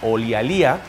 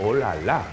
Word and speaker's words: Olialía: El proyecto es de una empresa que se llama Olialía, que se pronuncia, no se pronuncia así, se dice Olala, imaginaos, estas rubias.